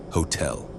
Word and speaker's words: Hotel: The H is always pronounced clearly, a rule to make sure it's never missed.